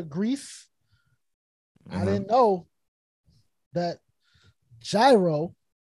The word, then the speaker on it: gyro: i didn't know that gyro was officially pronounced euro but of course you